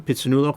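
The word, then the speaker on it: Phitsanulok: I mean each kind of sound grouping, like pit, su, nu, lok, pitsanulok. 4 syllables.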